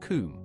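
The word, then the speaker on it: Cwm: Above the icefall is the western kum, pronounced kum, a Welsh word for valley.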